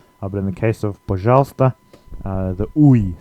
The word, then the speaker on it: пожалуйста: If you sound this out in Cyrillic letters, it looks a bit like пожалуйста, but it's not pronounced like that. It's one of the few words that isn't pronounced exactly as it's written.